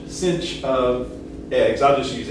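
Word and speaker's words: sinh: already mentioned is denoted by s-i-n-h and usually pronounced the shorthand instead of hyperbolic sign the shorthand is uh cinch i don't it doesn't have a c in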